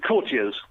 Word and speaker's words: courtiers: We tend to create words and we don't know how to properly pronounce things. Is it courtiers or courtiers? It's courtiers.